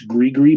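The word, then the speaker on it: gris-gris: He makes gree bags. It's spelled like gris, but it's gree bags.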